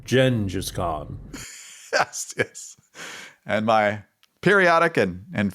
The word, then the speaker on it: Genghis Khan: It's the people who pronounce it Genghis Khan instead of the appropriate pronunciation, Gengis Khan.